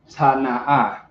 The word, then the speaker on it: Tana'a: And the word is Tana'a. Let me know if you can see that clear. If that's the word. Tana'a.